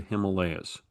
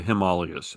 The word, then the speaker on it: Himalayas: with the uplift of the Himalayas or the Himalayas. You can pronounce it either way.